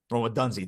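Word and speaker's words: Rome Odunze: Roma Dunzi. That's it. Yes, thank you. Yeah, no problem. Forgot the pronunciation right there.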